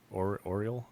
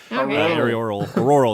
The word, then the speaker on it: auroral: is the high frequency active aerial Oriole, how do you pronounce that? Research program. Aerial, the lights, the northern lights, those things. right. Auroral, there we go.